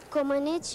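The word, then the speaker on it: Comăneci: Komenich Nadia.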